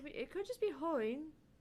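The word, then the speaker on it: 鳳凰院: It's not Hyoin. It's Hoin.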